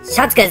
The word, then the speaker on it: しゃつける: こんな感じですね発音もですねシャツ受けるぞではなく借景ぞぐらいになるのが一般的ですねしかしですね